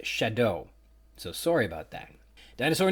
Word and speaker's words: Chateau: I can say that I've been incorrectly pronouncing the Montana locality and chapter title Chateau like some sort of francophony and stinking Canadian might, when it's actually pronounced Shadow.